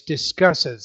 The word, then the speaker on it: discusses: So it sounds like you're using one syllable there, cuss or cusses are two, but it's discusses. That's actually three syllables.